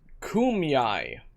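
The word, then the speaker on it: Kumeyaay: there's no okay fine kumyai it's pronounced kumiyai i added how did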